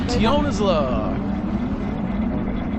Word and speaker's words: Tionisla: We're on our way to Tionisla. At least, I think that's how you say it. Tionisla. Tionisla? Tionisla, I think. There's no I between that S and that L.